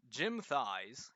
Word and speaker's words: Jim Thies: into too much detail, but the reputation is Jim Thies, yes, that's actually how it's pronounced, back in the 80s, I believe, wrote the just worst fantasy novella ever.